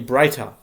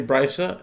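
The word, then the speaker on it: ברייתא: is taught in a Braita. If an animal, sometimes I say Brisa and sometimes I say Braita. It's just a matter of pronunciation.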